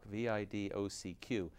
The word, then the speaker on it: Vidocq: Eugène François Vidocq, V-I-D-O-C-Q, some of the Philly guys call him Vidocq, or, you know, all different pronunciations, was an incredibly flamboyant